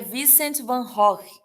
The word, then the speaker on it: Vincent van Gogh: Na verdade, a pronúncia correta, né, seria Vincent van Gogh, tá? Mas aqui no Brasil a gente chama Van Gogh, né?